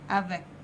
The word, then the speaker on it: avec: السي بننطقها ك زي برضو ما اتفقنا ك avec.